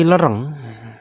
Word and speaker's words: Lereng: tangga di sini kali lereng walaupun pada peta Belanda ini disebut pakai a ya kayak mungkin ejaan a kemudian tulisan a dibaca e gitu Ya kali lereng